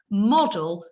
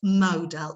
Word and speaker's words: model: an alternative pronunciation, and we need to hear them say model, not model. If they say model, we can't give it to them.